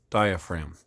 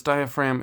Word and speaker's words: diaphragm: it is called a diaphragm if you're ever wondering how to spell it always remember it's you pronounce that you don't pronounce the G so you spell it